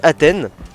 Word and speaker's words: Athène: est une bonne connaissance d'athine ou d'Athène je vais prononcer son nom à la française euh et donc athè c'est un commentateur un